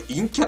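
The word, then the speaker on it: 陰キャ: あなたは、陰キャで、これ陰キャって読むんだよね。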